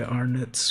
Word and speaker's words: Arnott's: used under license by Arnott's Biscuits Limited. It's pronounced Arnott's.